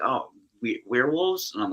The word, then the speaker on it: We're Wolves: Yeah, some people say werewolves. Some people say we're wolves, which is the actual pronunciation.